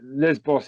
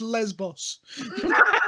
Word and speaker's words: Lesbos: steve just said no jeff there is no liz boss is not a country foreign first of all jeff it's pronounced lesbos that's where that's with the thing with triathlon